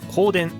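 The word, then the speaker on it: 公田: ででこれを公の田んぼと書いて光電と言います 2 つ目は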